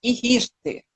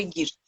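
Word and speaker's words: Highirte: proibidíssima do Papa Egírte, ele fala Ihirte, mas eu acho que aí a pronúncia latina, latino-americana, é a que me parece mais difundida, Papa Egírte.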